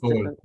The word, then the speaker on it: Sol: Oh, he says in Spanish, so it might be pronounced Sol. differently. Sol, like. sun, like the sun, Sol.